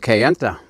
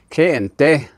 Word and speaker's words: Kayenta: The other area is over in Kayenta, which is the correct pronunciation is Kayente, is the name of it.